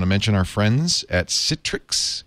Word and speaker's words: Citrix: mention our friends at Citrix which rhymes with pic Citrix is my piic